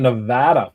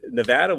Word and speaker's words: Nevada: All right, Victor, can you touch on Nevada for us? I always say it wrong. Nevada. Nevada. Nevada. Not Nevada. They'll kill you for that.